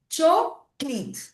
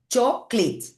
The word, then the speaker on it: chocolate: Sí, en inglés la palabra chocolate se escribe igual que en español, sin embargo, sin embargo, se pronuncia choit. O sea, que tengo dos sílabas. Choit.